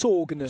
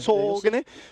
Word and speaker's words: Sagene: This is the Sagene. I think it's pronounced Sogene. Sogene, the Sogene club from Norway.